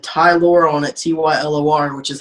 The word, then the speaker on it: Tylor: said tylor on it t ylor which is how my name is spelled so my name is tylor not tyler so tyler or tylor